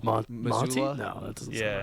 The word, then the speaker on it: Mazzulla: I could obviously we could all see Mazzulo. Monty? Mazzulla? No, that doesn't. Yeah. How do you say his name? Joe Mazzulla.